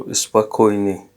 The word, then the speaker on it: спокойной: So once again, it's written spokojny, but the O here is not pronounced. So the O here is not pronounced. So spokojny.